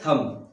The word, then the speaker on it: thumb: तो इसको हम पढ़ेंगे थम। ठीक है, THUM, थम, THUM, थम पढ़ेंगे, थंब नहीं पढ़ेंगे क्योंकि बी को हमें आवाज ही नहीं निकालनी है। ठीक है, हमें बी का आवाज नहीं निकालनी है।